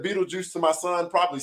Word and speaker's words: Beetlejuice: at it, I was like, man, this is, Beetle Goose or Beetle Ghost. I don't even know what it says, So just for everybody knowing it, when you read it, it is pronounced Beetlejuice.